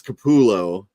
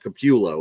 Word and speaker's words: Capullo: named the spaceship the Capullo Capalox. Yep. Capullo Capalox, based on Greg Capullo, which I guess it's Capullo, not Capullo, which is what I always said.